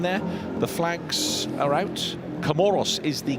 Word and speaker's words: Comoros: Comoros is the correct pronunciation. I made a few phone calls today because the French pronunciation is Comore.